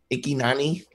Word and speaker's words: Ikyna: I don't know how to pronounce this. Ikynani?